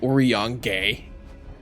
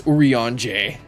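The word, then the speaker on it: Urianger: Oran for a while I was saying it as like orong or yaner no it's uran bigs is in the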